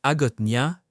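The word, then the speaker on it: Hagåtña: La capitale de Guam, Agotnia, prononcé Agotia, n'est pas une ville comme les autres.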